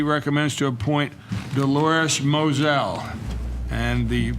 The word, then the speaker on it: Moselle: to a point Dolores Moselle and the you see the spelling mo SE SEL which is correct that she pronounces it Moselle ok kereta committee's recommendation